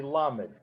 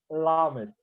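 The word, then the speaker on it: למד: Their lamed, to me, it sounds the same, but they actually touch the tip of the tongue to the palate. So the letter lamed would be pronounced lamed, lamed.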